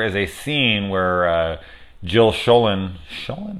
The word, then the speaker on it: Schoelen: shame because there is a scene where Jill Schoelen showing right that's how you say her name